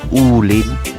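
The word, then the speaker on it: 武嶺: Ito na nga mga idol, papuntang Wuling. O binibigkas to ng mga Taiwanese bilang Ulin. Ganon nila binibigkas yan eh.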